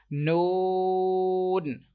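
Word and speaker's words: ن: This letter, like some people pronounce, they do same mistake. They take sound, like they take sound into their nose, like they pronounce this letter noon, noon. So that is wrong. You have to read with you have to read this letter without taking sound into your nose.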